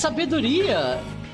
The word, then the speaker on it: sabedoria: Oh, it's sabedoria.